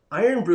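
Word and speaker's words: Irn-Bru: for him um ah iron brew i'm sorry iron brew is how you pronounce that lino thank you so much um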